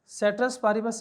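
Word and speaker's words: ceteris paribus: सेट्रस पारिबस इसको ऐसे pronounce करते हैं, लेकिन प्रोनाउंसिएशन उसने नहीं पूछनी हमसे।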